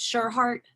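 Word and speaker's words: Tschirhart: Throws me off when people have a T and S together, but it's TSCHIRART. And That's cause, I'm sorry, what? It's Sherhart.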